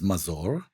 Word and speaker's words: Mazor: The name is Mazour but it's fine.